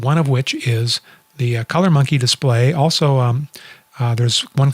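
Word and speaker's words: ColorMunki: Anyway, it's called the Color Monkey display, and monkey is spelled MUNKI.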